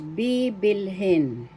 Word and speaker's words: bibilhin: in English verb, becomes bibilhin. Bibilhin, to buy in English. First syllable B, second syllable bil, third syllable hin. Bibilhin. Bibilhin. First syllable B is the accent. That's how you pronounce it.